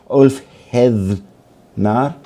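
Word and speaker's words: Úlfheðnar: So the Berserker and the Althethnar, it's a bit hard to pronounce because the Nordic TH is halfway between a TH in English and a D. So Ulfhednar, in a way.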